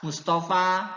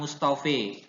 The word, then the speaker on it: Mustafa: jadi Yahya tetap Yahya, Mustafa ya tetap Mustafa bukan Mustofe ya, nggak boleh diimalahkan, tidak boleh dibaca imalah, tapi harus dibaca apa adanya yaitu Mustafa ya.